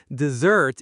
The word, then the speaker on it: dessert: The stress is on the second syllable and the s makes a buzzing z sound, dessert.